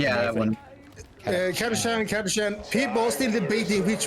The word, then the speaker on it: Catachan: Yeah, Catachan. Yeah, that one. Kadashan, people are still debating which one is the right pronunciation. It is Karachan.